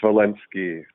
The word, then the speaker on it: Zvolensky: Zvolensky.